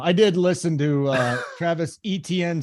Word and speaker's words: Etienne: I did listen to Travis Etienne say his last name is ETN, not ATN.